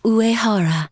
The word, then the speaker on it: Uehara: nice work I'm sayoko uehara nice to meet you yes urahara rhymes with secondary ooh seconds so uh